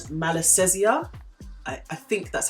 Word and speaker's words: Malassezia: year's them try and get the name right pronounce it properly it's called malassezia I think that's how you pronounce it now